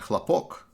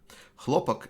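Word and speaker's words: хлопок: said in russian and chlapoc actually if you misplace the stress in that word then it becomes lopak hlopak is in russian is cotton that's why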